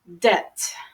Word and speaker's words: debt: afraid of getting into debt okay as we mentioned the B is silent debt but Ken says they